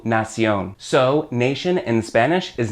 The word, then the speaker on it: nación: The word for nation in Spanish is nación. Same word basically, but not exactly. In this case, the TION at the end of nation becomes a CION with an accent on the O to give you nación.